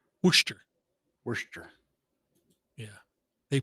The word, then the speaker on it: Worcester: It might be in Worcester up there. Worcester. Yeah. Where the sauce comes from? Well, yeah, exactly. But of course you have to pronounce it if you're there. Worcester.